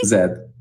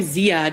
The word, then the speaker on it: Zed: Is it How do you say your name? Hey, Lucy. Zed. Zed. Okay. I want to call you Zad all the time.